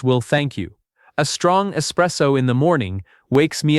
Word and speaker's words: espresso: This one is not about a silent letter. It is about a wrong letter that people add. There is no X in this word. It is espresso, not espresso.